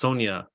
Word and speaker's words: Sonja: Oh, so it's pronounced Sonja.